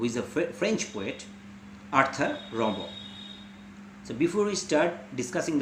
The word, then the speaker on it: Rimbaud: The spelling is Rimbaud, but as he is a French personality, so the pronunciation should be Rimbaud.